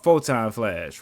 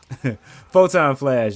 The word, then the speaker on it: Photon Flash: has a move called fulltime flash right or i f Photon Flash is how it's pronounced right and that's actually